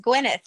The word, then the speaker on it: Gwyneth: Pronouncing it right, Gwyneth. Yes, Gwyneth.